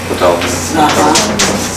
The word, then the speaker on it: Ptolemy: Some of these words, I am having trouble getting the pronunciation of P-T. What's that? Is that Ptah? No. Ptolemy? Yeah. Ptolemy.